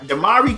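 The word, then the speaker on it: DeMarre: And, with Damari, I'm saying it right? Damari Carroll.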